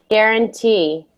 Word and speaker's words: guarantee: Guarantee. Guarantee. Good. Yeah, so it does have a G-U-A, but we don't say the U. We just say guarantee.